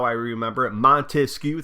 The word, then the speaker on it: Montesquieu: Montesquieu, 3 syllables. That's how many branches he wanted.